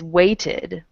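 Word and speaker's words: waited: is a d the third one is weighted okay now the ending is the special t ending okay we have special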